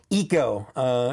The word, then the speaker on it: Echo: You know, that's how Omega or Omega pronounces it. She pronounces them all weird. Eco, Teak, Hunta, Rika, because she has a New Zealand accent, and that's how they say those things.